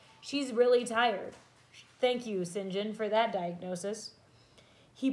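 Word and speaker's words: St John: Sinjin so it looks like st. John but in England they produce it they pronounce its engine just so you know Sinjin came but once he looked at me and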